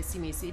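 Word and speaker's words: Tzimisce: about is gonna say I refuse to say see me see because I think it sounds really silly that what they're actually called though that's how they want us to pronounce it but I refuse easy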